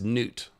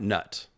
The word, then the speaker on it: Nut: I've just been told that it is Nut, not Nut, the Egyptian goddess, sky goddess.